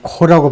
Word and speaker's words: Corps: 이거 코라고 발음하죠. 코. 이거 Marine Corps. 해병대 할 때 Marine Corps 하잖아요.